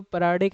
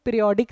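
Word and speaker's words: periodic: बड़ी इंटरेस्टिंग चीज़ है, ये जो परायोडिक एसिड होता है ना, क्योंकि इसके स्पेलिंग पीरियोडिक, जब आप इसके स्पेलिंग लिखते हो ना तो वो पीरियोडिक लगता है, तो कई लोग इसका ना पीरियोडिक एसिड बोल देते हैं। ठीक है, सो इट इज़ नॉट पीरियोडिक acid, it is Meta पर आयोडिक एसिड।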